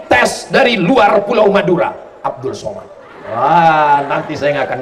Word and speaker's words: Abdul Somad: Tulisannya Abdul Somad, tapi cara bacanya Abdus Somad. Jadi tulisan itu nggak mesti sama dengan bacaan.